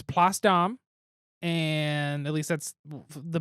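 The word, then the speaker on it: Place d'Armes: you last time and it's not pronounced place the arms it looks like it should be placed a arms but it's pasta and at least that's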